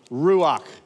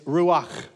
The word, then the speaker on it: ruach: his first name is ruach did you hear that ruach ruach okay it's not with a K it's ruak okay his last name is hakodesh so his full name is ruach hakodesh okay that's his